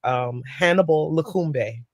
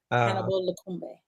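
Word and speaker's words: Hannibal Lokumbe: He's a famous trumpeter, Hannibal Lakumbe. Hannibal Lakumbe.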